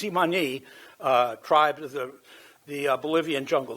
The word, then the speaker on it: Tsimane: scans on the Tsimane, that's the way you pronounce it, Tsimane tribe of the Bolivian jungle.